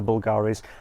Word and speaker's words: Bulgari: vol galleries of the Bulgaria's I keep getting confused between those two I was recently corrected that it is Bulgari they just spell it with a Latin you which looks like a B but yeah this would